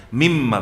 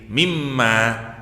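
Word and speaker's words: مِمَّ: dimasukkan jadi idghamah jadi mimma tapi mestinya alifnya panjang mimma gitu tapi di dalam dalam al-qur'an mananya dibuang alifnya bacanya gak boleh panjang mestinya kalau nurut gramar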